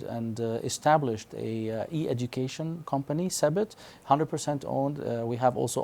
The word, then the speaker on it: Sebit: How do you pronounce it? Sebit? Sebit, S-E-B-I-T.